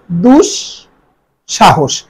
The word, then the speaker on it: দুঃসাহস: দেখ এখানে দেয়া আছে দুঃসাহস দুঃসাহস শব্দটি উচ্চারণ হবে দুষ সাহস খেয়াল করবে দুষ আমরা